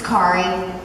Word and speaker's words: Kari: back there, and they mispronounced my name, so I was like, is that supposed to, oh, it's Kari. Kari like Ferrari.